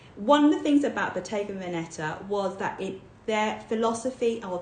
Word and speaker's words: Bottega Veneta: No, it's Bottega Veneta. That is how you pronounce it.